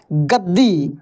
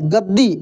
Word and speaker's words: गद्दी: देना है है कि सेम अक्षर यदि उसी का आधा हो और फिर उसी का पूरा हो तो उस अक्षर के उच्चारण पर जोर दिया जाता है जैसे ग आधा द फिर पूरा द में ऐसे बड़ी की मात्रा कैसे पढ़ेंगे गद्दी गद्दी गद्दी नहीं गद्दी इस तरीके से ठीक है तो बुद्धि